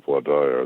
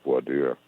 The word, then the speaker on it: voir dire: If the other side has done their job on voir dire, the jury selection process, sometimes pronounced voir dire, they will have screened out as much as possible gun enthusiasts, perhaps even gun owners.